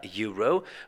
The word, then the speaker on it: Euro: also now we have a Euro which when you write it of course of course starts with the E starts with the vowel but if you have a closer look at the pronunciation and if you listen to actually how you say the word you will notice that the first letter that comes out of your mouth when you pronounce the word euro is not a